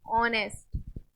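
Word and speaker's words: honest: शुरू हो शुरू हो बट एच क्या है हमारा साइलेंट है ए को प्रोनाउंस नहीं कर रहे हैं उन सारे वर्ड्स में एन आ जाएगा एन ववर एच क्या है silent an ऑनेस्ट एन एयर ठीक है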